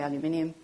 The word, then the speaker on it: aluminium: I know you pronounce it differently, but we say aluminium, and iron are all part of the humic molecule.